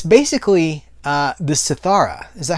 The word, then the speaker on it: Siddhartha: It's basically the Siddhartha. Is that how you say it? The Siddhartha.